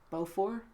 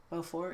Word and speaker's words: Beaufort: that yeah you know if there's a T at the end of the word in French you just don't pronounce it it's just yes Jesus